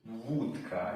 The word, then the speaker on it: wódka: I think, yeah, with an accent it's a W sound. U, so it's going high. It's not O, it's U, O, O, like a U almost.